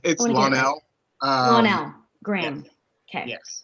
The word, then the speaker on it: Lonnell: What should I pronounce? Is it? It's Lonnell.